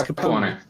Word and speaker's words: Capone: It's Capone. I'm half Italian. That's why.